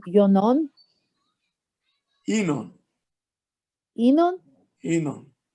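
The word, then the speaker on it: ינון: Enon. Enon? Enon. It's the name What? of the Mashiach. Enon? How you spell it?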